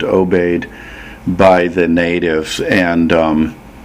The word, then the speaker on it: Obey: or OB D it's spelled both ways and pronounced obeyed by the natives and um it would be